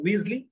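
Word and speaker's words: Wriothesley: i o t h e s l it's pronounced weasley so henry weasley then william herbert another third earl of pembach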